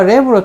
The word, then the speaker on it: wrap: 이게 이렇게 엄마 랩으로 좀 싸줘 그 말을. 그 랩이 그 랩이야. WRAP, W가 발음이 안 되지.